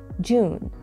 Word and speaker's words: June: June. June. وانتبهوا انه يجب ان نمد قليلا صوت ال او هنا. اوكي، يعني هي جون. جون. تمام، اليو هون تلفظ ك او طويله.